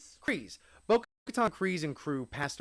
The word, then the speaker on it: Kryze: Kryze.